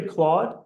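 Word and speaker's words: Claude: that's already pretty impressive my name rhymes with odd and starts with a third letter of the alphabet it's actually clawed so it doesn't quite rhyme for my English but maybe for some englishes it does uh I share my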